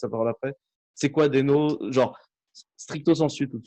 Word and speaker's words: Deno: Non, mais les anglophones commencent de plus en plus à dire Dino, en particulier l'équipe Core, et d'où Le dinosaure.